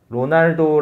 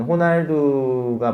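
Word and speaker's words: Ronaldo: 이제 쓰시면 되는데 어여 예를 들어 로 날도 라는 영어 발음으로 있는 것을 이제 저희는 호날두가 맞잖아요 그 스페인 식으로 발음하면 그럼 이제 써멀 i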